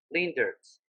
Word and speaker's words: Leendertse: I wanted to ask you how to properly pronounce your last name. Is it Leendertse? That's not too bad. It's Leendertse. Sorry? Leendertse.